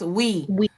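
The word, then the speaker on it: Oui: good oh she said the french yogurt is pronounced we oh you know what i think it is yes we but it's spelled o-u-i oh okay we and it comes in a real cute um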